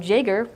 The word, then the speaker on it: Jager: And then a little while later, Tom Jager, pronounced with a J, said, did you guys ever think about taking over the conference?